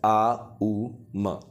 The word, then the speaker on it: Aum: से सिंबल को बनाना हम समझते हैं आऊ ए यू एम या फिर आ उ म आऊ समझ लिया है इसकी